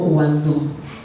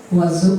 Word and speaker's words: oiseau: Essayez de prononcer le mot oiseau. Il est constitué de O, de I, de S, de E, de A, de U et de X. Est-ce que dans la prononciation, vous sentez son mot?